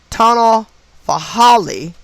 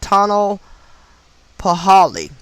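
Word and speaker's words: tonalpohualli: the 260 day calendar called the tunnel for holly is spelled t-o-n-a-l-p-o-h-u-a-l-l-i so you may can look that up and pronounce it better than i just did but it's called the tunnel paholi was meant to please their gods and to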